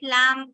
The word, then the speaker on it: lamb: silent we say that when you have B at the end MB then this b gets silent okay like in the